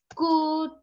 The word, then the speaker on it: could: i always say is that letter l is silent would could should talk walk silent